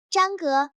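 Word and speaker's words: 张哥: 聽發音，「張哥」這兩個字都是第一聲，平調。張戈。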